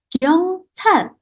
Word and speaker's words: 경찰: Nah, di sini teman-teman kalau ada huruf ciat kemarin, kita bisa bacanya itu ada sedikit angin yang berhembus ya dari mulut kita ya teman-teman ya. Jadi pas kita baca ada haknya. Ceha seperti ini.